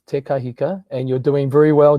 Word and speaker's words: Te Kahika: The pronunciation is Te Kahika, and you're doing very well, John.